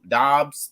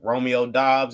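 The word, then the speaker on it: Doubs: pod alan lazarda romeo dubs dubs whatever however dobbs yeah yeah he said he that's how he said to pronounce it earlier this week okay romeo dobbs and alan lazar i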